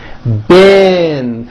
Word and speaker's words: been: Bin, like in the word hit. Even though it's spelled with a double E, it's pronounced with the vowel sound So, for example, this sentence reads, I've been buying beans.